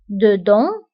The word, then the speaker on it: dedans: وانتبهوا أيضا بالنسبة ل dedans و dehors كنكتبوهم بأس في آخر الكلمة ولكنها لا تنطق dedans dehors، داخل خارج.